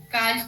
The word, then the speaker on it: calcio: So, and that word, how's it pronounced? One more time. Calcio? Calcio.